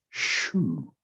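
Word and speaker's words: 嘘: So we'll also stimulate the liver chi by saying shu. So shu is the liver sound, like shoe that you put on your foot, but it's actually XU in Chinese, and that's pronounced SHU.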